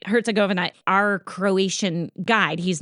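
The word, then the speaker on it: Herzegovina: The buzz on Bosnia Herzgovenia. I never say it right. Herzgovena right that's how you say it. Yeah. Yeah. Something like that. Yeah. You're saying it right. Herzgovena.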